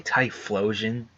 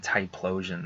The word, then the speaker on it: Typhlosion: an F I well I say Typhlosion like tie in and flow like water flowing I used to call him tight plosion though I'm one of